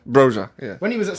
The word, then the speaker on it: Broja: Boja. Broja.